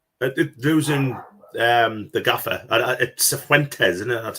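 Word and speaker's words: Cifuentes: at Sephuentes, isn't it? That's how you pronounce it.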